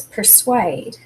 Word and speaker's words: persuade: Okay, the next word is persuade. And the accented syllable is at the end. The suede is the accented part of the word.